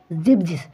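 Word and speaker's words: siebzig: বলা হয় সোয়াই এবং সেভেন কে বলা হয় জিবজিস তো কি সোয়াই উন্ন জিবজিস এইভাবে কিন্তু আপনাদেরকে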